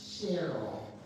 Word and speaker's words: Cheryl: My first name is Cheryl, but in Pittsburgh they say Cheryl.